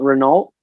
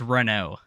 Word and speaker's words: Renault: before you start, I want to see if you pronounce his name right. Is it not Renault? That's close, but that's a What very is American. It's a very American way of saying it's Renault.